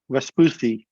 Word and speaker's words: Vespucci: Without further ado, please join me in welcoming Lars Jensen, the founder and CEO of Vespucci Maritime. Did I pronounce Vespucci, Lars, correctly?